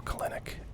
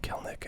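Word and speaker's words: Kelenic: a big one now clinic um or kelnick as i understand it to be pronounced had a really hot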